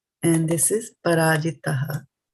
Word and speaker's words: parājitaḥ: This one, mahā-rathaḥ, and this is parājitaḥ. Right? So there's a difference between the two words. So we will be pronouncing it also differently. This is tha for thali. This is ta for titli.